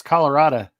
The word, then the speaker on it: Colorado: in Colorado man Colorado you got to say it right Blake it's Colorado Colorado because I'm Coloradan because